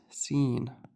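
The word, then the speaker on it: سين: So, the first one the one without the dots we pronounce it uh the name of the letter is seen. Seen. We've all been left on seen.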